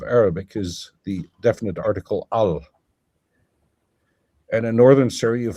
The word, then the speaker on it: al: which is where the the short a, can become pronounced like an e, so el.